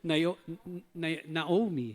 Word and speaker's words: Naomi: Tama po ba yung pronunciation ko? Naomi yon.